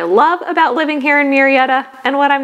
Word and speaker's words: Murrieta: Murrieta is the pronunciation, not Murrieta.